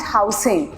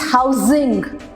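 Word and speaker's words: housing: एच ओ यू एस आई एन जी इज नॉट हाउसिंग। इट्स हाउसिंग। ज है वहां पे। द साउंड इज जेड वाला।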